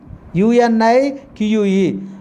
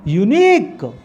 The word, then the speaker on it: unique: U-N-I-Q-U-E. Unique. We should pronounce second syllable. We should give a long vowel.